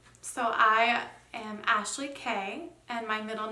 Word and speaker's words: Kei: first and middle name so I am Ashley Kay and my middle name is spelled in a way in which no one